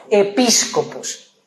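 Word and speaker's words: ἐπίσκοπος: Y a luego en el otro versículo es episcopos. La V se pronuncia en el griego como una s. Epíscopos.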